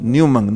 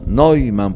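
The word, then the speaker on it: Neumann: la gente dice dicen newman no es nueva pues puede pueden decir pueden decir cómo se escribe neuman pero no la convierten en inglés no es newman es noiman porque en el alemán la partícula en el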